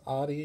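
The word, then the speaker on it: Audi: car outtie Adi mm-hmm however you want to say it I think it's properly pronounced Adi but I've always heard it as Ali my whole life but just a little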